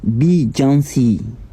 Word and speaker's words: Beyoncé: Déjà son nom là, ça se prononce correctement Beyoncé.